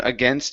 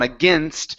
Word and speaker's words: against: the beginning with alone, against, and odds. Okay, so let's try these. Now remember, on against, we don't want to say against. Okay, it's a short I sound.